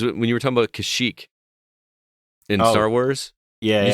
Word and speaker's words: Kashyyyk: three wives in no world would it be pronounced kashuk right now it's pronounced kashyyyk either yeah i don't know i'm just i'm